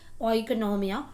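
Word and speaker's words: οἰκονομία: Actual pronunciation according to the Greek word is ओइकोनॉमिया, which means house hold management.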